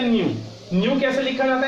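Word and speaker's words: ν: हैं फ्रीक्वेंसी को, और बोलने का तरीका न्यू बोलते हैं, एन यू।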